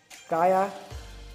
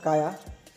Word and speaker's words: Caya: ये है काया या फिर साया, आप लोग जो भी बोलोगे, तो मैं इसको प्रोनाउंस करता हूँ काया।